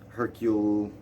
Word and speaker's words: Hercule: a good job with hercule uh the detective i think i'm pronouncing it right because he's like it's not hercules it's hercule hercule uh so he he